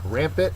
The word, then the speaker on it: rampant: Rampant is next. These weeds here growing on the sidewalk are pretty rampant. It's an adjective, first syllable accented, growing without check or running wild.